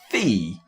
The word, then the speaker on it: Fe: we pronounce this and am I is it pronounced no no it's Fe like Fe e e but with one e